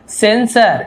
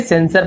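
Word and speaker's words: censor: Second word जो है वो है सेंसर, इसे सेंसर पढ़ेंगे, सी का सा उच्चारण होता है सेंसर।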